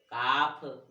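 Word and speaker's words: calf: देखो तो क्या बताया नियम में कि एल के बाद कोई व्यंजन हो तो एल का उच्चारण नहीं होता। कैसे नहीं होता तो देखो, इसको क्या पढ़ेंगे, काफ, फिर योक, फिर हाफ, बॉक, talk, palm, could, should. अब यहाँ पे देखिए तो एल यहाँ का उच्चारण नहीं किया हमने। अब यहाँ पे इसको हमने बाल की नहीं बोला, इसको हमने टाल की नहीं बोला, इसको हमने साल में नहीं बोला, यानी एल साइलेंट है।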